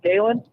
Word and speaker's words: Galen: On an almost daily basis, I'll say my name and people will say Gale. I'm like, no, Galen.